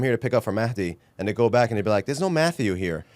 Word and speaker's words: Mahdi: The people demanded more Matt Rostami, or Mahdi Rostami Zada, or Zada. Is it Zada or Zada? It's actually pronounced Mahdi. Mahdi? Mahdi. Mahdi. Sorry. No khe. It's a soft H, actually.